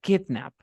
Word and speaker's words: kidnap: Ahora me fijo, el verbo se pronuncia kidnap. Por lo tanto, no tendría que pasar nada, porque la fuerza de voz está al inicio.